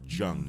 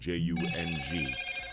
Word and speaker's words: Jung: Yes, you should study the work of Carl Jung, or also called Jung, Jung. It's mispronounced Jung. It's actually Jung.